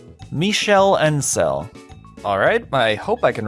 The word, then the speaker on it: Michel Ancel: How do you actually pronounce that? I've always just kind of assumed. Michel Ancel. Michel Ancel.